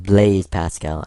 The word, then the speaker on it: Blaise Pascal: And long ago, a man by the name of, I believe it's pronounced Blaise Pascal.